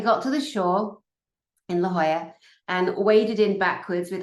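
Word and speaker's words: La Jolla: very historic L Hoya it's spelled j o l l a which is Spanish and so it's pronounced Hoya not Jola when I first moved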